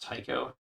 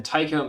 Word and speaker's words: Tycho: themselves imply that the the ai's name is pronounced tycho um and i think that might be how a couple of bungee employees pronounced it but it's based off otiko brahe who i think pronounced his name with the e sound rather than the i don't know i i